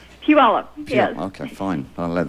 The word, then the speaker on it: Puyallup: Hi, I'm from Puyallup, Washington. Yeah. Puyallup. Puyallup, yes.